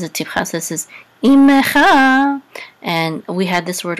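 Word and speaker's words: עמך: sound in the letter, we're gonna sound the shiva, even if it's in the middle of the word. Usually in the middle of the word, the shiva is silent. So ime, and this is a chaf with a, again, this is the cha, right? Your imecha.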